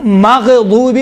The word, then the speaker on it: مغضوب: طرح غیر المغضوب علیہم، دیکھیں مغضوب، غین میں قلقلہ نہیں ہے لیکن تلفظ کرتے وقت کیا کہتے ہیں؟ مغضوب علیہم، ماغ نہیں ہے۔ غین اور خا میں دیکھیں، غین اور خا یہ کون سے حروف ہیں؟